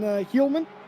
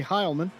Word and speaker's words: Heilman: Anyway, Benjamin Heilman, or excuse me, Heilman. I always get that wrong.